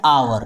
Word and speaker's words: hour: इसके पहले वाले रूल में एच का उच्चारण हो रहा था और इस रूल में एच साइलेंट रहेगा। समझ गए? अब आइए एग्जाम्पल देख। एन आवर, क्या लिखेंगे?